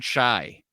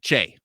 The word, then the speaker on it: Kyei: And then Filipina Chai. No, Che. Filipina Che. That is how you say her name. It's spelled Kyei, but I believe it is Che.